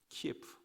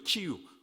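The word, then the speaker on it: 키이우: 콘트라베이스트 연주자 드미트로, 그리고 켈레러 트럼펫 연주자 코스탄틴, 이들은 키예프, 소련식 발음이죠, 키유 국립음악대학교의 선후배 사이입니다.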